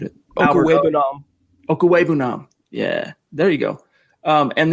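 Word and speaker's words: Okwuegbunam: day, those tight ends that they did add, Van Nett, I butchered it. Okuwebunam.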